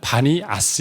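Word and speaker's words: Banias: 이파니 란 말에 요즘에 그 알아 뭐가 발음이 뭐냐면 반이 아스 에요 판에 아람어 발음이 받냐 스 그래서 그 지역 명칭이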